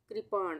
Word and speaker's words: कृपाण: तो ये हो गया कृपाण, कृपाण। अगर हम क्र बोलते तो इस तरह से ये वाली मात्रा लगती क में, पर यहाँ पे हम बोल रहे हैं कृपाण।